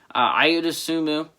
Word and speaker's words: Ayo Dosunmu: Ayo Dosunmu, I pronounced it right.